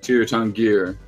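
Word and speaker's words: Tir Tairngire: place on earth pacific northwest tier is it tier 10 gear is that how you say it yeah cheer tongue here cheer tongue gear in the wilds i really like it because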